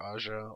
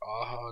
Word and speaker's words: Aja: is writer director Alexander Aja or aha depends on how you want to pronounce it because I was a